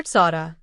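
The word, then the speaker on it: צדי: Letter Tzada, pronounced like the English ts as in beats.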